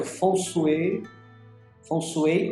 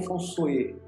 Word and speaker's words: Feng Shui: O Feng Shui, a pronúncia é considerado mais correto Feng Shui ou Feng Shui.